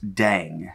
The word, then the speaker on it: DDAENG: you know i don't they said pronounced dang so we're just going to go with dang for now okay because i'll be